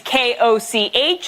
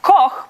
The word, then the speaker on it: Koch: My last name is K-O-C-H. It's meant to be pronounced Koch, but if you're living in an English-speaking country, 8 out of 10 times I am Olga Koch.